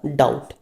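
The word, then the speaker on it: doubt: था आपका कौन सा डाउट दोनों में बी टी साथ में है तो दोनों में बी आपका क्या है साइलेंट हो गया ओके और सल का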